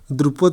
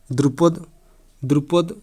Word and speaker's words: द्रौपदी: द्रुपद की पुत्री। ठीक ना। द्रुपद ये होची उच्चारण ताप ठीक नहीं।